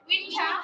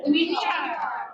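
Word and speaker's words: winter: বাঙালির উচ্চারণ হ্যাঁ উইন্টার ব্রিটিশরা কি বলবে এই যে আর এর উচ্চারণ নাই ই এর পরে আর আছে তাহলে এই ভাওয়েলের পরে আছে কি হবে উইন্ঠা ওরা বলবে উইন্ঠা আর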